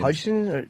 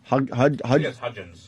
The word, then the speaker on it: Hudgens: Hudson? Hudgens.